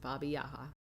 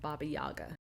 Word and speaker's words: Baba Yaga: entertaining and fun but he said that that's how they pronounce it Baba yaha not Baba Yaga so we're just gonna